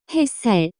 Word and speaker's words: 햇살: The pronunciation of this word is closer to. 햇살.